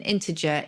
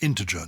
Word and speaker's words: integer: And you pronounce it integer, not integer. I say integer, yes. But probably either is allowed, is it? Yeah, just the soft G is given integer.